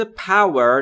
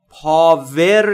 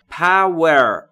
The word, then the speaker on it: power: یعنی زندگی من دوستان در مورد تلفظ پور دقت بکنید دبلیو شو وقتی میخواید تلفظ بکنید لب‌هاتون باید حالت بوسه داشته باشه یا لولهای و هوا خارج میشه و در مورد پور پاور نیست تلفظش پور پ و یه چیزی بین او و ا میشه یعنی قدرت توان نیرو